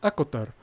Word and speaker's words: ACOTAR: Tito que es una cuyos acrónimos se pronuncia acotar o acron of thorns